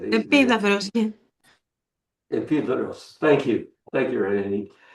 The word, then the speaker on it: Epidaurus: Epidaurus, I used to say. Επίδαυρος, yeah.